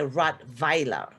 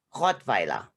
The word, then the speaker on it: Rottweiler: the weiler we say rod viola the vi it's a v it's it's you know the w in germany is pronounced as a v basically so that's why we say hot viola that's the correct german